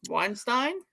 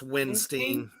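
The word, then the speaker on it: Windstein: vocalist band leader Kirk how do you pronounce his last name Weinstein uh it's when it's Winston okay yeah uh Cleveland then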